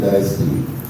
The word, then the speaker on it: diastole: One point, I mean, just because this patient had syncope, the correct pronunciation is syncope, systole, diastole. All three you got wrong.